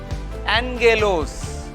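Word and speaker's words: ἄγγελος: If two gammas come together, you have to pronounce like N sound, ing, N sound. Angelos, angelos. Angelos means messenger or angel. Evangelion, Evangelion. So these are two gammas, sounds like N.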